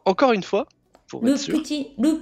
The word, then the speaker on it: petit: pour le petit le petit Nicolas ok ça va ça va attention les les les Japonais ont tendance à à dire petit et pas petit c'est bien un peu comme dans un petit peu voyez un petit peu